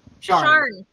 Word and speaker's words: Sian: It's confusing because that's not how it looks when it's spelled. Right. It's It's Irish. That's just how Gaelic is. it's spelled Sian.